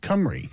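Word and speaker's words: Cymru: the snp in wales it's played cummery um and it's it's ployd it is plaid comrade yeah he is an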